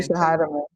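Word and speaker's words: Natisha Hiedeman: Natisha Heidemann.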